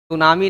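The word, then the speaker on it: tsunami: T silent रहेगा। अच्छा, क्या करना, नेट पे सर्च कर लीजिएगा, सुनामी ना टी साइलेंट रहता है।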